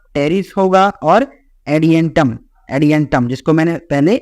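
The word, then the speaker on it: Adiantum: होगा ड्राप होगा टेरिस होगा और एडि एंटम एडि एंटम जिसको मैंने पहले एलिमेंटम बोल दिया था ठीक है चलो तो ये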